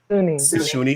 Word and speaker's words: Soonie: So Soonie, is it Sony or Soonie? I want to pronounce it right. I don't want to mispronounce it. Soonie.